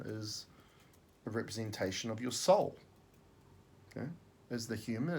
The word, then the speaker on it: sol: The Latin word for sun is S-O-L, you pronounce it as soul.